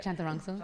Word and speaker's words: Chantarangsu: Chantarangsu. Man, you heard it all. Did I say it right? Yeah. Chantarangsu.